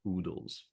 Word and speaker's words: oodles: Absolute oodles. Rhymes with poodle.